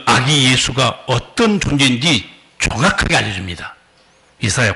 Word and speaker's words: 예수: 그리고 사실 영어 발음에서 지저스 그렇게 하는데 실제 예수라 단어 이름 발음은 헬라어로는 예수입니다 예수 수예요 이름 자체가 원이에요 그니까 우 구원자로 오신 거예요네 번째 선지자 이사야가 그 하나님이 보내실 그 아기 예수가 어떤 존재인지 정확하게 알려줍니다